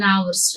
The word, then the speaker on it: hour: He said, we had an hour's rest. An honest person. See, these H, honest, H is silent there. Hour, H is silent there.